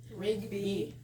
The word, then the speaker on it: Rigby: Rigby. Well, It's like rugby, but with rig.